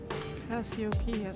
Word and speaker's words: Cassiopeia: Cassiopeia, that's how you say it.